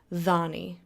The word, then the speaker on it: dhani: As you can see over there, DH is pronounced with like a th sound. As in thy or then or them. You get it. So, for example, the word think is dhani. Or as I like to use the word tafadhali, which is please. It has a DH in the middle. You pronounce the DH as a the sound.